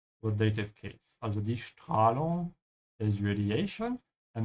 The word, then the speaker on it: Strahlung: Also die Strahlung is radiation and make sure you start with a sch sound because the s comes before a d.